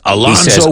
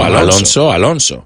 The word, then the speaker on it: Alonso: No, porque la Z es como una S. Alonso.